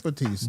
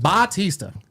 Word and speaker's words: Bautista: I like I like Batista. Bautista.